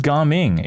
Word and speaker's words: Gaming: It is Garming. It is Garming. Dude, I'm getting flamed out for pronouncing it right this time. Imagine. We still need one more. Still calling him Gaming regardless?